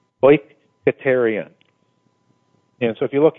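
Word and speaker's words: οἰκητήριον: It's O-Y-K-A-Y-T-A, well, this is how, at least phonetically, how you would pronounce it, O-Y-K-A-Y-T-A-Y-R-E-E-O-N, oikoterion.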